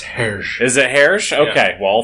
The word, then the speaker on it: Hergé: I believe it's Herge.